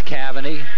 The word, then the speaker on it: Cavani: Alex Cavani, number 11. We did get the correct pronunciation. It is Cavani.